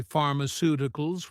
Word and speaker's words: pharmaceuticals: So in the speaking exam, we can say pharmaceuticals with five syllables. The two vowels eu make one sound together. If you're not sure whether two vowels should be separated or divided, look to other words that you know for clues. If you know that the vowels eu in Europe make one sound together, you can suppose the same thing in the third syllable of pharmaceuticals.